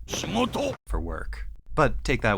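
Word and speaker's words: 仕事: He doesn't say shigoto, work. He says shimoto.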